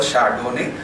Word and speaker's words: Chardonnay: The name is spelled as Chardonnay, not Chardonnay. It's called Chardonnay. They are the four crus, they are the four grading.